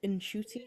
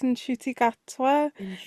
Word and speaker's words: Ncuti: to pronounce his name I believe it's eny like inshoy yeah like in chy because he did do